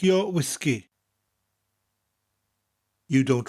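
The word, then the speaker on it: wisgi: the first is whiskey the only difference is we emphasize both syllables and bring out that gas sound whiskey whiskey next we have pop in the UK you call it soda in the u.s.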